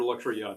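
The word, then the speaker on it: Luxury-Yacht: the pythons oh yeah roger luxury yacht but it's pronounced throat warbler mangrove yes that's i think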